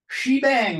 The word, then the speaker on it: shebang: criteria it needs the shebang line and that's the way it's pronounced she dang because the exclamation point used to be called Bang from the old mainframes